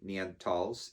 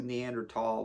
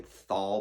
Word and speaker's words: Neanderthal: So this whole saying like, you Neanderthal, which people say thal, but that's not how it's pronounced or spelled, is an inaccurate depiction of our ancient relative, hominoid relative.